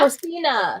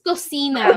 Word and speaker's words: cocina: How do you say kitchen? Huh? Cocina. It's Cocina. Cocina.